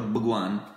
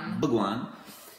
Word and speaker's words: Bhagwan: Comunque, che narra la storia del mitico e leggendario santone indiano Osho, che in realtà si chiama Bhagwan, bisogna pronunciarlo Bhagwan. No, sì, si pronuncia Bhagwan.